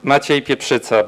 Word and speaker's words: Maciej Pieprzyca: The right pronunciation is Maciej Pieprzyca, but I recognize it's a bit difficult for non-Polish born.